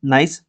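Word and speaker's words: gneiss: जी silent होता है इसमें। तो इसको नाइस पढ़ते हैं।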